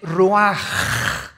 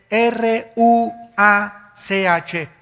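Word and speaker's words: רוח: el versículo 29 y exhaló Isaac cosa el ruaj que se escribe r u a c h ruach en el hebreo y se pronuncia igual ruaj Aquí vemos que al morir dos personas diferentes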